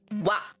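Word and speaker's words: は: Now, the ha is also often pronounced as wa.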